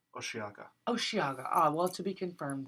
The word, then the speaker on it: Osheaga: Oh, just to interject, I found out that the pronunciation is Osheaga.